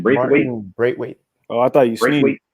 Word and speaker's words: Braithwaite: Braithwaite.